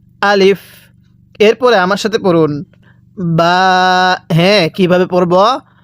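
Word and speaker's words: باء: এরপরে আমার সাথে পড়ুন বা। হ্যাঁ, কিভাবে পড়ব? বা। এই বাটা দুই ঠোঁটের মাঝখান থেকে উচ্চারণ হবে।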